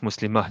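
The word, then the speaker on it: مسلمة: The reason why it's Muslimah is because, this small da, the da marbuta, you can also pronounce it. If you were to put a stop, you pronounce it as a ha.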